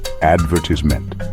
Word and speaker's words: advertisement: to Billboards cross the ocean to the UK and it suddenly becomes advertisment emphasis totally flipped it's amazing how the